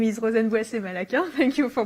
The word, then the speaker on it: Rozenn Malaquin: So my name is Rozenn Malaquin. Thank you for pronouncing it correctly.